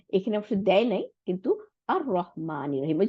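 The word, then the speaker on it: الرحمن: কেন সাদ্দা দিছে আসতে, ওই যে লাম, লামটা গিয়ে রকে ডবল করে ফেলাইছে, তাই না?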